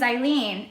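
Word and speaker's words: Hailin: from mexico and so in spanish the h is silent and um they spelled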